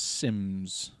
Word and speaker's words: Symes: guy's name was simes sims symes pronounced it's s-y-m-e-s but it's pronounced sims sim from what i